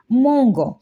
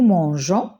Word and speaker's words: mangeons: Mais dans nous, si j'écris directement le ONS, ça va se prononcer mangon. Donc, je vais ajouter le E. Donc, nous mangeons, vous mangez, il avec S, elle avec S mange.